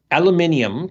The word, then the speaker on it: aluminium: Aluminium can be spelled in two ways, and spelled the British way, it's pronounced aluminium. It has an extra I in it, and in the US, it doesn't.